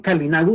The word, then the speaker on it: garinagu: a todos, es más garinagu. Los garinagu o también calinagu, dependiendo del lugar donde se haya pronunciado este nombre, que los caribes también tenían su forma de pronunciarlo, esa es la etnia